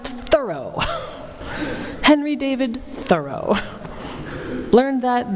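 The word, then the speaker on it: Thoreau: should say my friends I just learned that thorough wasn't even pronounced thorough it was pronounced thorough Henry David thorough learn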